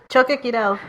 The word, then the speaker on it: Choquequirao: And there's also, excuse my mispronunciation, the Choquequirao? Choquequirao.